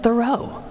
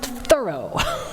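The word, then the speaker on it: Thoreau: should say my friends I just learned that thorough wasn't even pronounced thorough it was pronounced thorough Henry David thorough learn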